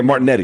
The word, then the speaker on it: Martinetti: Luna Martinelli to me is a little bit more a Martin did I say his name right? Yeah, Martinetti, excuse me.